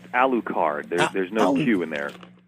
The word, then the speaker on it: Alucard: Alcorn from Helsing's and ultimate Helsing which I pronounce a lieu card there's no you in there I loo card Alucard yes it's Dracula spelled backwards we know that